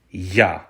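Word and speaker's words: я: of the Ukrainian alphabet and that's the letter ya by itself this letter is also the word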